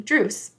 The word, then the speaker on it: Druce: someone and he said my name is dreu it's like Bruce but with a d and that made it really easy for me to be able to pronounce his name druce like Bruce with a